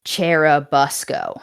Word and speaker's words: Churubusco: So if I say it wrong, I'm sorry, but it is Cherabusco. That is the correct pronunciation.